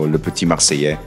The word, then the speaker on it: Le Petit Marseillais: Marseillais, the double L should be a Y sound, like a Y sound. So Le Petit Marseillais would be the correct version.